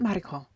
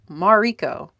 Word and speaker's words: Mariko: My name is not Mariko. If I were in Japan, yes, that's how it would be pronounced. But it's not a Japanese name. It's a combination of both my grandmother's names, Margaret and. So it's Mariko, because it comes from Margaret.